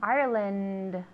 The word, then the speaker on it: Ireland: Ireland. Ireland. Yeah, the D at the end, okay?